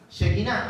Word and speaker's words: Shekinah: Shekinah, ahí me faltó. Mira, ahí de toda palabra acentuada, la última sílaba está acentuada.